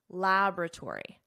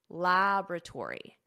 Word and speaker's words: laboratory: Notice the pronunciation here because there is a difference between American English, which I teach, and British English. In American English, laboratory, laboratory.